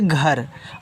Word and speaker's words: घर: GHAR को पढ़ेंगे घर। अब देखो, घर में घा पे आपका मात्रा नहीं होता, तो जहाँ मात्रा की ज़रूरत ना हो वहाँ ए को साइलेंट कर देते हैं, मात्रा उससे नहीं लगाते हैं, और जहाँ पे ज़रूरत